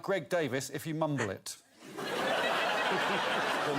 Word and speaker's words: Davies: The most glorious thing that sounds a bit like Greg Davies if you mumble it.